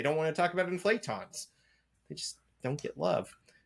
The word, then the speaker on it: inflaton: They don't want to talk about inflatons.